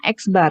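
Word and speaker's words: x̄: ada garis strip diatas itu bacanya eksbar ya eksbar jadi rata-rata hitung itu oh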